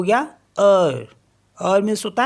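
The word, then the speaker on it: heure: ई यू आर ई तो यह हो गया अर अर मीस होता है आर जे यू ई जे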